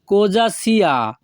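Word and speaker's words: cosa: ভাষা হবে known so কোজাসিয়া এখানে সি ও কো এস এ এর উচ্চারণ হবে যা কোজা যখনই আমরা ইতালিয়ান ভাষায়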